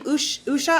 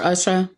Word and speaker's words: Usha: don't what her name is US H so I believe it's Usha Usha or Usha Usha or Usha Vance